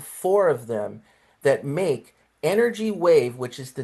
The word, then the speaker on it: NRG Wave: So, I found four of them that make Energy Wave, which is the name of the company. They they spell it NRG, but it's pronounced energy wave different.